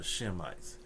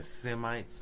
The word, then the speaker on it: Shemite: Okay, I will bring him to Shem, and all Israelites are Shemites. When they be saying Semites, anti-Semites, nah, the word is Shemite. If they were saying it right, they would say anti-Shemite. But anyway, so he said,